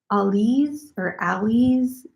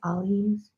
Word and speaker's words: Alize: It's Ali's Diva yarn. It said it was supposed to have stretch. It's not bad, but it's a 100% microfiber acrylic, and you spell it Alize, Ali's.